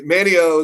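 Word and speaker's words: Manteo: Manio is on the coast, but you almost say Manio. It's spelled Mateo, but the T is almost silent. It's like Manio, and like the T from Manio moved over to Wilson.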